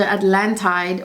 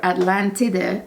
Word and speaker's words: Atlantide: This fragrance was named after Atlantide, or Atlantide as the Italians pronounce it.